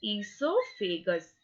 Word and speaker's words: esophagus: O here, O is silent. Okay, what we will call it? We will call it esophagus.